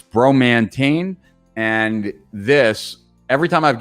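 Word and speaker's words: Bromantane: coffee in the morning and then next is bromantine so it's spelt b-r-o-m-a-n-t-a-n-e bromantine this is a very unique substance it's a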